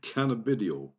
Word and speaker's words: cannabidiol: Medical cannabis, CBD, pronounced cannabidiol, cannabidiol, Cannabidiol.